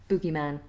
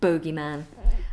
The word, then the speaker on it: bogeyman: got by the boogeyman so please feel free to use any version of pronunciation or any spelling they're all acceptable in my eyes or if you have